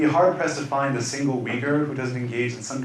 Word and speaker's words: Uyghur: are known as the weaker people in English work we look in Weger if you can say we go or it's closer to the actual pronunciation but in English we say weaker now these are people